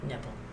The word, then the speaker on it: Knipple: you date a man whose last name is Nipple? It started with a K. Knipple? So the K is silent? Wow. I asked him once, how do you pronounce your last name? He's like, Nipple.